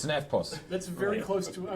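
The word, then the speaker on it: EFTPOS: in Australia says, the FPOS, The FPOS. because they don't pronounce the T. It's an FPOS.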